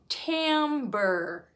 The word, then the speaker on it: timbre: word in music and that is Timbre can you say that with me camber so Timber it's spelled t-i-m-b-r-e it's almost spelled like another word that means to chop down a tree Timber right but with